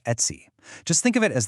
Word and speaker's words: etc: And that brain is etc, which is pronounced et see.